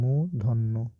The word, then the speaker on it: মূর্ধন্য: মুধন্য ন মুধ্য মুধন্য অনেকে কিন্তু এটাকে উচ্চারণ ভুল করে এটা হবে মুধন্য ঠিক আছে মুধন্য মুধন্য